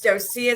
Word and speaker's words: Docea: It's Docea is how you pronounce that.